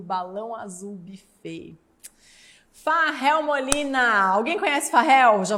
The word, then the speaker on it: Fahel: Farrell Molina, alguém conhece Farrell? Já vou convidar antes para vocês seguirem as redes dele. Ele tem um canal no YouTube. Farrell se escreve F-A-H-E-L. É um Rafael modificado, né?